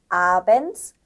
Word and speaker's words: Abends: 그 다음 철자 조합은 D하고 S가 만났을 때 this 이렇게 읽는 게 아니고 ts 발음이 되는데 한번 써볼게요. ts 발음이 된다는 거죠. 그럼 단어를 한번 들어볼까요? 네. Abends, nirgends.